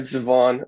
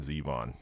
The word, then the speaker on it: Zevon: All right, Zevon, are you German? Yeah, it's actually Zevon, like seven with a Z, but my parents just